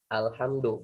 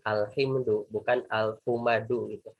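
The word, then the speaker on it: الحمد لله: kita tahu Alhamdulillah ini dibacanya Alhamdulillah bukan al-humadu Kenapa kita mempelajari ilmu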